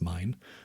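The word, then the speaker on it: Milne: by Gustaf mine uh m i l n e is his last name I think it's pronounced mine um which actually applies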